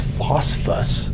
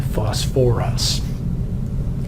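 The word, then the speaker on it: phosphorous: much like sulfuric acid I've brought an extra syllable back in so instead of just phosp us acid the sound very good we've added some the o R sound back in fuss for us similar would be true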